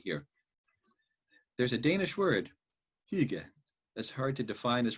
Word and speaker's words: hygge: There's a Danish word, hygge, that's hard to define as pronounce.